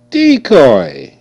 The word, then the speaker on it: decoy: d o COI decoy okay you see the E is making a long e sound e e e okay and the C is making a k sound CK C come before a o u it's going to make the k sound see coming for e